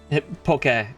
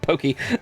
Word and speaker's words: poke: Um, poke. Uh, p o k e. I'm not surprised that it's pronounced pokey. where you're at. Uh so many people also in the states do that too. It's like, "Oh, look, Saki." It's like, "No, Saki is spelled with an I and that is a girl's name.